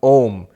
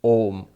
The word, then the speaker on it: Om: them together it becomes ohm ah and ooh the two syllables are and Oh together becomes oh by the rules of sanskrit grammar and mmm put them together all mmm becomes ohm and the silence after